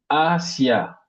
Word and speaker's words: Asia: Ensuite, Asia, Asia, Asia. C'est-à-dire, on met l'accent sur la première syllabe.